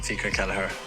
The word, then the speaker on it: Fiacre Kelleher: have tweeted out actually a video how he pronounces his name. So I'll just quickly play that now. Hey Bradford City fans, I'm FIACRE Kelleher, but you can call me Kells, and I